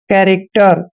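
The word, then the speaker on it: character: आर आता है तो सी एच का उच्चारण क करते हैं देखिए सी एच ए का उच्चारण यहां पर हम क करेंगे और एक को एक की मात्रा लिखेंगे आर को र पढ़ना है एक को ए की मात्रा पढ़ते हैं और जब भी सी के बाद कोई कंसोनेंट होता है सी का उच्चारण क करते हैं और टीई को हमने ट पढ़ना है और आर को र पढ़ते हैं कैरेक्टर कैरेक्टर होता है चरित्र कैरेक्टर चरित्र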